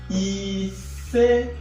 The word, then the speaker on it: ise: So 5 is called and pronounced like this. Ise.